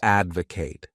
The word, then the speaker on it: advocate: The next wonderful verb is to advocate. This word has three syllables and the stress is on that first syllable.